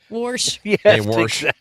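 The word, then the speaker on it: Warsh: It sounds like his name is Kevin Wash and we're saying it wrong. Yeah, it sounds like he's from like he's from Eureka. Worsh kind of wash the car.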